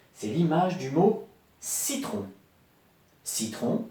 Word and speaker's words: citron: Citron, on entend bien le S. Et pourtant, j'écris citron. Et là, il n'y a pas de S. Parce que parfois, le son S s'écrit avec un C.